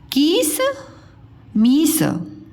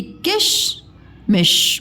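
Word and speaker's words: किशमिश: कीस मीस, कीस मीस, कीस मीस बोलते हो कि किश मिश बोलते हो? किश मिश, ठीक है। इनके उच्चारण में कम समय लगता है।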